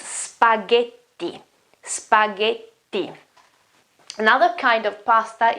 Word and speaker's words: spaghetti: Now, the GH here, the GHE here, it's a sound like this. Ge. Ge. It's not J, it's ge. And the double T here makes the sound longer and stronger.